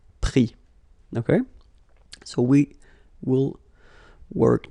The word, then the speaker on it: pris: Prendre, so E-N-D-R-E, will become I-S. Same thing here. Final S not pronounced, so prendre, pris.